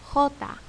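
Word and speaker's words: jota: it the next letter this letter is called hota hota makes the sound of an english h so you've seen it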